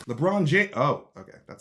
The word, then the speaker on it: LeBron James: from the animaniacs standing majestically behind nba superstar lebron jamies is that's how you pronounce it right it's libra on jammies right lebron james oh okay that sounds familiar so what appears